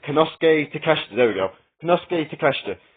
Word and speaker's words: Konosuke Takeshita: I can never pronounce that right. Konosuke Takeshita, there we go.